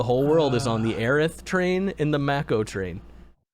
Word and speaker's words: Aerith: and now the whole world is on the aerith train in the makko train why would anyone ever say eris that's clearly spelled h no no no in the original translation aerith was the name of aerith in the japanese